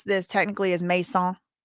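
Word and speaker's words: Macon: Listen, y'all know the way to pronounce this technically is Mason, like Mason.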